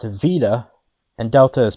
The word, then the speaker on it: beta: In modern Greek, beta is now pronounced vita, and delta is pronounced velta.